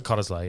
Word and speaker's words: Cottesloe: But even when I stayed at, how do you say it, Cottesloe? Cottesloe, yeah.